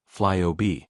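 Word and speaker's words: FlyOOBE: Part of the patch involves a rename to Flyub, pronounced Fly OB, because the app will begin giving people control over the OBBE, outof-box experience.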